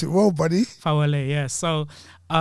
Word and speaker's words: Fawole: Fawole. Pronounced it right? Yeah. I got it phonetically spelled here, just so I don't pronounce it well, buddy. Fawole, yeah.